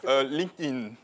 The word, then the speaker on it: LinkedIn: Alors, selon les environnements, vous aurez des prononciations différentes. Certains diront LinkedIn, d'autres diront LinkedIn, d'autres diront, je ne sais pas, LinkedIn. C'est quoi la bonne prononciation? LinkedIn. LinkedIn.